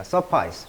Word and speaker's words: suffice: 자, suffice. 충분하다. 이 I 발음입니다.